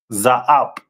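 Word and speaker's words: זאב: The symbol of the tribe of Benjamin is a wolf, and that is pronounced in the Hebrew as Za'ab.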